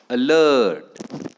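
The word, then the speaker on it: alert: Second example बघा, अलर्ट. अलर्ट कसं transcription कराल त्याचं, अलर्ट. Okay, अलर्ट 2 vowels hence 2 syllables. First syllable कोणता आहे, अ. First syllable, second syllable लर्ट. Stress is on the second syllable.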